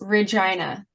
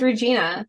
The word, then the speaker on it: Regina: Oh, and by the way, the only city you're not allowed to mispronounce is Regina. All the others you can screw them up in. And I already did that. Yeah, don't call it Regina.